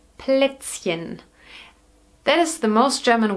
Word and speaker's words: Plätzchen: And I know that hen is very difficult to pronounce for you. For English natives. So we call them Plätzchen.